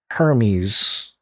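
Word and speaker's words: Hermès: luxurious feel reminiscent of the silent h in hermes yeah okay i asked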